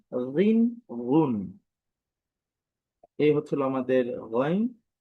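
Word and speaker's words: غين: গইন। আমি আবারও বলছি, গইন, গইন। যদি বিভিন্ন উচ্চারণ দেখি, গ, রি, রু, রন, রিন, রুন।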